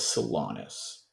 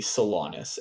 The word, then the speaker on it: Solanis: her name is theara and her surname is salonus how do I spell that yeah theara would be t h a l a r a and her last name would be salonus s o l a n i s all